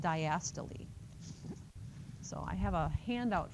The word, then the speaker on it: diastole: It's not systole and diastole. That's what it looks like, right, if you sound it out phonetically, but it's systole and diastole.